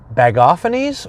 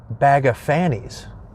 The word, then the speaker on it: Bagophanes: then vicar Brad Lessman should this name be pronounced bag off Annie's or bag of Fanny's I prefer bag of Fanny's but you just can't